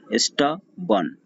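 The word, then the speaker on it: stubborn: इधर का R silent रहेगा, इसको नहीं पढ़ेंगे, सो होगा स्टबन।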